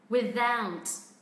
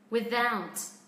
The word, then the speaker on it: without: Without. Without. Cho âm rơi âm tiết thứ hai mà.